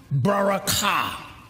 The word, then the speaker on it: barakah: Now, the blessing is a word, barakah. Barakah. The accent is on the ka.